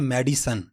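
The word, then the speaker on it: medicine: अगला लफ्ज़ जो हम मिस प्रोनाउंस करते हैं हम कहते हैं मेडिसन।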